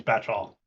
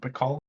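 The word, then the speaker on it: batchall: This is still anybody's batch-all. Did I pronounce that right? Is it Bacall? No, it's batch all.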